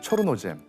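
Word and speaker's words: чорнозем: 우크라이나 이름으로는 초르노젬, 러시아 발음으로는 체르노조름이라고 하는데요.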